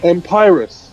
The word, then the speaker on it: Imperius: Empirus. Empirus. Okay, not Inferius.